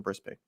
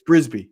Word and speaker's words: Brisbane: So I thought it was Brisk by Life because he's saying he lives in Brisbane. Nope, you're wrong. It's Brisbane.